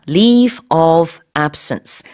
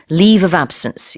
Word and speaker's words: leave of absence: leave of absence, leave of absence 이렇게 보통 붙여서 하나의 표현인 것처럼, 하나의 단어인 것처럼 이렇게 발음을 해주시면 되겠습니다. 이렇게 끊지 마시고요.